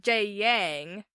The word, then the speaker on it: Jagang: The two different pronunciations that we got on our comments were Jagang and Jayang, and I saw some, way farther pronunciations on, the actual page.